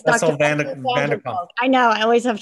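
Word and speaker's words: van der Kolk: Vanderkolk. I know, I always have trouble pronouncing his name.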